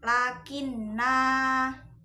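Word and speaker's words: لَكِنَّا: Nah, itu kalau diwakofkan maka dibacanya panjang. Lakinna. Kalau diwasolkan itu dibacanya pendek. Lakinna. Lakinna. Lakinna. Itu kalau diwasolkan. Tapi kalau diwakofkan lakinna. Kayak gitu ya.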